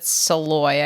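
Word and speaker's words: Szalay: So I read Flesh by David Saloy, I think is the way that it's pronounced. Somebody said, like, ahoy.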